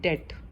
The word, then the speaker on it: debt: उसके बाद नेक्स्ट जो टर्म बैंक से रिलेटेड होती है वो होती है डेट। डेट मीन्स कर्ज लेना, DEBT। यहाँ बी साइलेंट रहता है।